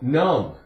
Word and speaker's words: numb: is silent um um num it's not a long u um uh uh um short youu num how about the word